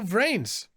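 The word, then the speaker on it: VRAINS: Brains. Actually, let me, yep, I pronounced it correctly. It's not like any like the brains or something like that. It's brains.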